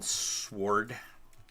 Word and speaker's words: sword: The W is silent in sword.